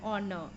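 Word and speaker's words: honour: to serve you honor so it is an honor because H silent o is the word which is making the vowel sound summer is Dash most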